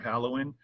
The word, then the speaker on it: Halewijn: call me my last name is a little bit hard to pronounce it's a dutch name the uh j is actually a dutch y kind of like the spanish y so people see that